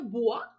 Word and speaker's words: bois: Ensuite, on a bois. On a une lettre muette ici, alors je l'enseclerai parce que ça vient du mot boiser, hein?